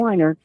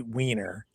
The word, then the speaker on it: Wiener: They do state it's pronounced Rusty Weiner. No, it's not. I know it's spelled that way. It is what it is. He's just playing a word game. He knows exactly what it is, and it's Rusty Wiener 1.